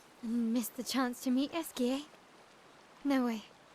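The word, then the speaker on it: Esquie: Missed the chance to meet Esier. No way. Esier.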